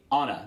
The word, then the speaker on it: Anna: Her name would be Anna. That's how it would be pronounced in German.